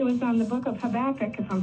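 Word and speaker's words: Habakkuk: vacation, but it was on the book of Habach, if I'm pronouncing that right.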